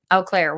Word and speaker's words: Eau Claire: Eau Claire, Wisconsin.